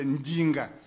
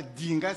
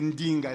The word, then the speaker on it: Ndinga: Quand je dis, par exemple, Ndinga, ce n'est pas le D, ce n'est pas Dinga, c'est Ndinga. Le D est mouillé.